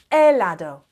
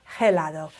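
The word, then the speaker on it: helado: argentine ice cream yeah elado the h is silent it's never gelado like an ice cream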